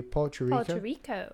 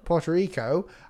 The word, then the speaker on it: Puerto Rico: what's that how do you say that nearly Porto Rico Puerto Rico I recently I really enjoyed the challenge thank